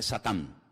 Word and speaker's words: Satán: En hebreo no se dice Satanás, se dice Satán, que significa adversario.